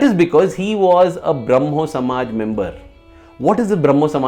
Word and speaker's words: Brahmo: people joined this movement braho braho stands for Brahman Brahma in the Bengali language the A is often pronounced as o and V is often